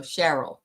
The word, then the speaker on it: Cheryl: She says it sounds like Carol, so Cheryl is how you say her name. Cheryl.